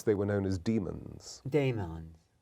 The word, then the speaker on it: daemon: Daemons. Which Daemon, D-A-E-M. but that's a ligature. It's a classical ligature, which is E in our pronunciation.